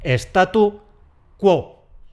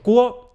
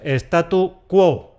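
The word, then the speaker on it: statu quo: Eso se pronuncia correctamente . Si has dicho , te has deslizado. Y es , sin ese al final.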